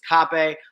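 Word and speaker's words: Kape: Apparently, they say it's Cape.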